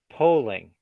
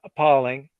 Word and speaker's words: polling: That the word polling has a long O sound in it. Polling. Not appalling. O. You want to say O.